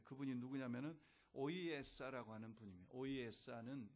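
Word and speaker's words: Ohiyesa: 오이에사는 영어 인디안 발음으로 오이에사입니다.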